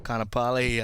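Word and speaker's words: Kaanapali: Kanapali.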